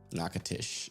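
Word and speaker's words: Natchez: Natish. Yeah, that's how it's pronounced.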